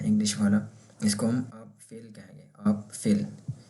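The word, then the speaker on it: Apfel: तो एक नाउन है, इसको हम कहते हैं आप फेल। और ये एप्पल है इंग्लिश वाला, इसको हम आप फेल कहेंगे, आप फेल। ये आ है तो आ से आप फेल।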